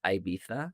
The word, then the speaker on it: Ibiza: Why are we talking about Aisa? actually pronounced Ibitha if you're British.